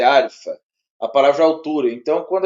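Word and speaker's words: ἄλφα: A gente fala mais alfa, mas é arfa.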